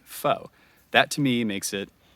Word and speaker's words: pho: one that we the the spelling that we chose was pho which in english according to the rules of english is pronounced foe that to me makes